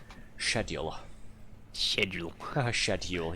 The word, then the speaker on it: schedule: So sorry, not pronouncing it the American way. The way um Thorax and Althia want me to pronounce it because they were um the other day having a laugh at myself saying um shed schedule. Yes, that's how we pronounce it here in Blighty.